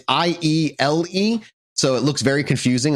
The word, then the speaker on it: Iele: So this is Iele. The Iele. Iele? You have to say it like that. You have to bring your shoulders up, get out your chin, and go Iele.